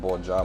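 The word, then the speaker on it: Borja: Iglesias, Jesus Alonso Iglesias, Boya, I don't know if it's Boja or Boya Montoro. His name is pronounced Boja Montoro.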